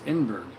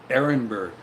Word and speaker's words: Ehrenberg: pronounce that hamburg inberg i guess it's inberg no trouble safe huh ehrenberg thank you aaron bird that makes sense i'm a total idiot when it comes to pronunciation of complex things i've never seen put together before like that it's just a mental thing ehrenberg i guess that's why icebergs float because there's air in the berg that's bad sorry if